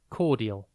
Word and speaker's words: cordial: Today's word is cordial. It is pronounced Cordial and spelt Cordial. Think core and then dial.